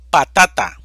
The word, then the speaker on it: patata: vocal va sin tilde patata división silábica pa ta ta sílaba tónica ta es una palabra grave